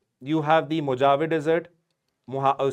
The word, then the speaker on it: Mojave: Moa, some people call it Moavee also but again however you pronounce.